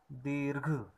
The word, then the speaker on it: दीर्घ: भार्गव, अर्घ, दीर्घ, इसका उच्चारण कुछ कुछ र इस तरह से होता है, ठीक है, र इस तरह से।